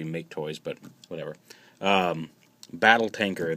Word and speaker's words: Maketoys: is the review for the make toys or M toys um I've heard it pronounced both ways I'm pretty sure it's supposed to be make toys but whatever uh battle